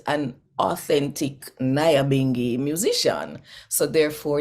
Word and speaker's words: Nyabinghi: okay and they also don't know how to say this is Naya bingi when they feel it